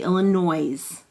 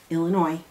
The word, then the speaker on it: Illinois: And believe it or not, there's an S on the end, but it is not pronounced. You don't say Illinois. Okay. And dot both of your eyes. Illinois.